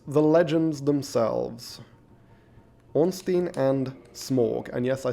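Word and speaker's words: Smough: a weird minority by calling him smorg but hey as far as I'm aware there is no actual guidance on how that name is supposed to be pronounced so you my interpretation is just as valid as anyone else's okay so oh we have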